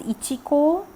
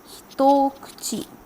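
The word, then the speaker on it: 一口: understand one mouthful and you will not read it as Ichiko you will read it again as doki-doki which means a mouthful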